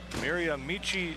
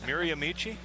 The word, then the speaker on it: Miramichi: Brad Malone there from Miramichi, New Brunswick. Now, did I say that right? Yep. You're from Canada. Miramichi?